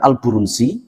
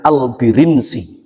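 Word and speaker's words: البرنسي: Ternyata bacanya itu bukan Al-Burunsi, bukan juga Al-Baronsi, tapi bacanya Al-Birinsi.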